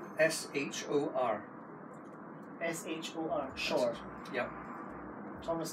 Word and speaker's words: Shor: No, I can't pronounce that. Thomas K. S-H-O-R.